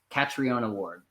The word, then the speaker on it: Catriona Ward: Catriona Ward.